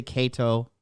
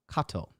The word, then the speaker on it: Cato: Oh, English, it's fine to say Cato. Latin pronunciation is Cato.